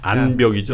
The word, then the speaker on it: 안벽: 삼성 대우 현대가 암벽 길이가 한 8km 정도 되거든요. 네. 암벽에 좀 설명 좀 해주세요. 암벽이 그냥 해안선이라고 보시면 됩니다. 안벽이죠? 네, 안벽. 안벽. 니은. 발음이 안 좋아서 암벽 네.